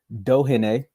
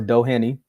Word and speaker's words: Doheny: We got Inoue versus TJ Doheny or Doheny. It depends on how your accent want to pronounce it.